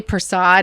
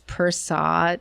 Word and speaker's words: Persad: I always say Persad, and I know that's wrong because it's Persad. It's Persad.